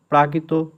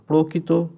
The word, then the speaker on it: প্রাকৃত: এবং এই শিলালিপিগুলো লেখা হয়েছিল প্রাকৃত ভাষায়, প্রকৃত ভাষায়, কিন্তু উচ্চারণ হয়ে থাকে পয়রা ফলা আকার কয়রি, তো প্রাকৃত ভাষায়।